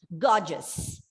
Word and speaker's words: gorgeous: Okay, so don't by mistake think that there are 3 syllables because in this word, the first syllable is stressed and you pronounce this word as gorgeous. So all these E-O-U, all the 3 letters are together brought, reduced to the schwa.